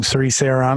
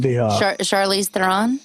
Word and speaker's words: Charlize Theron: Therese Theron. How do you pronounce her name? Charlize Theron.